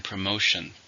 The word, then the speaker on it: promotion: it's a countable noun how many syllables are in promotion three stress in a second promotion there was a